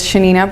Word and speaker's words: Yanina: tonight my name is Shanina it's actually spelt with a why it's Argentinean pronunciation and I'm a PhD